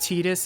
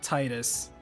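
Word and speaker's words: Tidus: Pointing out to people that it's pronounced Titus and not Titus.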